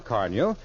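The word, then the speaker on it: Car-Nu: car new tomorrow sure car new is spelled c r Nu now I'll repeat the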